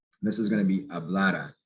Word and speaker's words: hablara: Here, there is no accent mark. So it's that second to last syllable, the syllable before the R, that's going to be stressed.